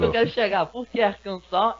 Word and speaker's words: Arkansas: Vamos começar pela Universidade de Arkansas, ou Arkansas, né, como é o correto se pronunciar, né, não sei porquê, mas Isso, Arkansas. é o correto. Você sabe explicar, Rodrigão? Porque o S no inglês, na funda da palavra, é mudo.